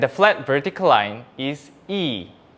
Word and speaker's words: ㅣ: And the flat vertical line is e, e.